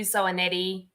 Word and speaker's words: Zoanetti: Zoanetti, rhymes with spaghetti, very easy to remember.